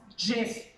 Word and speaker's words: GIF: All right, so the second one is, the animated picture is pronounced GIF. GIF. GIF is the way. That's the way you're supposed to say it, but it sounds so dumb.